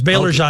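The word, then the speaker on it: Baillargeon: Real names, Belajan. Okay. They were Canadians, French Canadians. And if you look at Belajan, you'd never pronounce it the way it looks.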